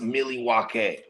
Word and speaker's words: Milwaukee: First of all, according to the indigenous folks from that area, it's pronounced Milwaukee.